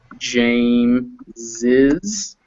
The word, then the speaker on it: James's: to say james's thing even though i pronounce it like this i pronounce it james is i will s i will spell it i will like this james's so that can be